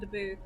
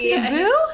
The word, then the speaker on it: Dabo: Blue and Daboo. Is it Daboo? It's Dabo. It's I want it to be Daboo.